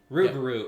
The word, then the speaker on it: rougarou: Loup-Garou is the French version. Rougarou is the southern version here in America.